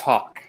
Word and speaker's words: Haack: It is pronounced Hawk.